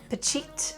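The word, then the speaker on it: Phichit: the silver medal behind Pachit from India. I am so sorry I was saying his name wrong. I was adding an L and that's where I was getting confused.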